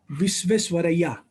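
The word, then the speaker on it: Visvesvaraya: The answer is एम विश्वेश्वरैया. इसका जो correct pronunciation है एम विश्वेश्वरैया.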